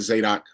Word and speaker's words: Zadok: It's Zadok, but I most people pronounce it Zadok. Both of them right.